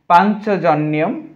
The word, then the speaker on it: পাঞ্চজন্যম: আমরা উচ্চারণটা দেখছি পাঞ্চজন্যম। আমরা শিখেছি যেই নিয়মগুলো সেখান থেকে আমরা অবশ্যই জানি ইয়টা আলাদা হবে, এখানে দন্তান্নটা ইয়টা ন হবে, আর এই চটা আলাদা হবে পান। এই যে আলাদা হয়েছে হর্ষচিহ্ন হয়েছে পান চ জনিয়ম, জফলার কারণে ইয় হয় জনিয়ম।